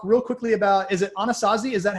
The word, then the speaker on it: Anasazi: And I just want to talk real quickly about, is it Anasazi? Is that how you pronounce it? Anasazi Holdings, yes.